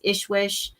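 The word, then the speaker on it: ISSWSH: one and and another good list is is Ishwish which is the international I forget. It's it's let me look it up real quick. Ishwish.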